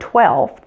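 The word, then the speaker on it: twelfth: really so you'll notice in the spelling of the word 12th we went from 12 which is spelled with a V to 12th which is actually spelled with an F and that's because those sounds are related and as we're preparing to pronounce that ending th sound the V becomes voiceless and just becomes an F so let's move from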